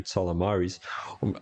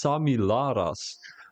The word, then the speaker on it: Samilaras: AC dog compared to salamari's Tommy my apologies because I'm saying the name wrong too it's actually it's samilaras but I'm saying salamaris I don't know why